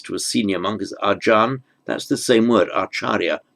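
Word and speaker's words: อาจารย์: So acharya, we get the word ajan, as a respectful term of address to a senior monk, is ajan. That's the same word, acharya, means teacher. So it's just the Thai pronunciation of the Sanskrit acharya or the Pali acharya.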